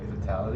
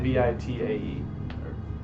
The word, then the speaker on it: vitae: things: preserved vitae, or how do you say it? Vitality? V-I-T-A-E. Yeah, Vitae.